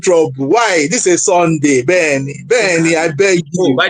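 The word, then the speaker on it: Beny: It's actually just Benny. B E N Y. It's spelled It's pronounced that way.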